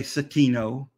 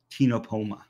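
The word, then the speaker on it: Ctenopoma: that sort but again CT Ino don't say satino or don't say micro satinopoma it's just tinopoma here is one of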